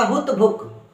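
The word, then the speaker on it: हुतभुक: हुत भुक हलंत है यहां पर यानी कि आधा ही क है क को जल्दी साउंड कर देना है तो हो जाएगा हुत भुक हुत भुक ठीक है जी हुता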